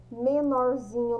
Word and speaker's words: menorzinho: Então, quando a gente chama menorzinho, qual é a sílaba mais forte? É o zi.